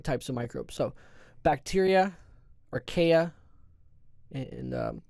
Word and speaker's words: archaea: So bacteria, archaea, and sometimes you'll hear that pronounced as the archaea, but I always pronounce it archaea.